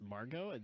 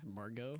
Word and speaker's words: Margot: were the key assignments Margo is actually yeah Margo Margot Robbie freakin put there I mean it is silent I know anywhere first